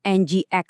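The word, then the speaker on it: nginx: Dibacanya NGX ya.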